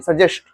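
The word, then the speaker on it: suggest: आपको chicken सजेस्ट होता gust नहीं सजेस्ट सजेस्ट पढ़ते उसको हां जी एनिमल्स का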